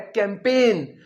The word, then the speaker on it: campaign: अगला वर्ड है कैंपेन, जिसका मतलब होता है अभियान। CAMPAIGN। इसमें हम जी प्रोनाउंस नहीं करेंगे।